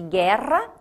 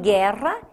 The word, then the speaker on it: guerra: Por isso que guerra é diferente de aguentar. Em guerra, este U não tem som, só está grafado.